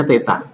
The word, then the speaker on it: theta: Ini bacanya theta.